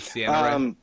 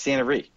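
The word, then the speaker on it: Ciena Ree: Is it Sienna Ray? Yeah, it's Santa Ree.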